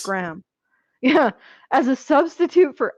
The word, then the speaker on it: Graham: used the emotional attachment between Hannibal and Will Graham. Graham? Okay. That's a really stupid mispronunciation. I apologize, guys. That's probably one of my worst. I know how to pronounce Yikes. Graham.